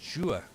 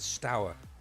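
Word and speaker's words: Steaua: It's pronounced Stua. Stuart Bucharest. Ah, okay. Apologies for that. My Romanian's not brilliant, I must admit. Because also we've heard Stour Bucharest. Is that the other option? But again, see, it's quite anglicised, isn't it?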